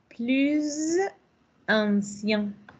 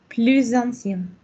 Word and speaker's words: plus ancien: Plus ancien. Notez que vous avez ici la liaison entre la Z, la S et la A, mais dans le son de Z. Plus ancien.